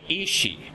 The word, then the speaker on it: Ishi: you will call me Ishi, my husband. Whenever you hear a E sound at the end of a Hebrew word, it's making it possessive.